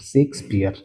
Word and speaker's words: Shakespeare: और इनका जो सही प्रोनाउंसिएशन है पढ़ने का। तो सेक को आप पहले पढ़े फिर स्पीयर को। तो शेक्सपियर।